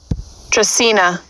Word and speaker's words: Dracaena: talk about how to properly care for a dressena plant first thing being proper pronunciation i actually had to google it myself i wasn't sure tristina so this is the google dictionary pronunciation playing here tracina dracena got it tropical palm-like shrub or tree with